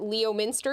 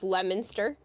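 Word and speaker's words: Leominster: Uh, this is Lemonster. It is not Leo Minster. If you pronounce it Leo Minster, you're going to be ridiculed. So, it's Lemonster.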